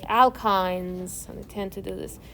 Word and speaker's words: alkyne: also show you like alkynes i tend to do this okay and alkynes is like cnh2n minus soup and then etyne and so alkyne again your book says it rhymes with wine alkyne etine propine one